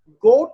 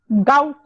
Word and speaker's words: gout: तो अब देखते हैं, गोट में हेड केयर लेग में यूज कर सकते हैं। गोट में, गोट मैम GOUT, गोट जो होता है, गाउट, गाउट, हाँ गाउट, मेरी GOUT, प्रोनाउंसिएशन, हाँ